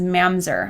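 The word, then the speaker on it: ממזר: And so I followed that little note, and it led me to the actual Hebrew word used in this passage is mamzer. I think I'm pronouncing it right.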